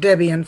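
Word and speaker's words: Debian: know look at that I think most people pronounce it Debbie and from what I've heard it was developed from what Debbie and her husband yeah yeah so do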